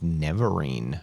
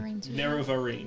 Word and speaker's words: Nerevarine: there is rumor of the proclaimed Neverine restoring, or Neverine, I don't know how it's said. Nerevarine. Nerevarine. The Nerevarine.